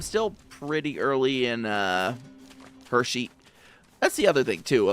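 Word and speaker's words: Hexi: Yeah, I'm still pretty early in uh Hershey. That's the other thing, too, about the uh name of this area. It's It's spelled H E Xi, but it's pronounced Hershey, like the Hershey kisses.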